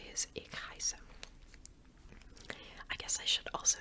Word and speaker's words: heiße: But yeah, so it's pronounced like S. Ich heiße.